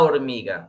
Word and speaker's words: hormiga: Entonces, la respuesta correcta es la hormiga. ¿Okay? Recordemos que en español la letra H es muda, es decir, no se pronuncia.